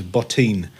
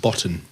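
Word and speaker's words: Bottin: The way to pronounce this guy's name is Botin, not Botton.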